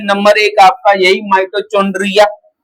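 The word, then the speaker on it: mitochondria: माइटोकंड्रिया। Spelling में सीएच आता है ना तो चंड्रिया लिख देते हैं हिंदी मीडियम वाले। माइटोचकंड्रिया। अब वो चेक करने वाला बोलता है कि ये चुंड्रिया कहां से आ गया?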